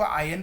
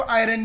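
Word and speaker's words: iron: देखो आयरन का colour, आयरन यानी आयन, कुछ टीचर्स उसको आयन प्रोनाउंस करते हैं, कुछ टीचर उसको आयरन भी बोलते हैं, आर साउंड करते हैं, ठीक है। तो डिपेंड आप जैसा प्रोनाउंस करना चाहते हो, आई प्रोनाउंस इट आयन, ठीक है।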